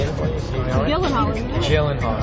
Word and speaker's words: Gyllenhaal: Mr Gyllenhaal and yes that is how you pronounce his name you want me to say it for you jillen Hall jillen hall jillen Hall everyone it's jillen Hall before I get to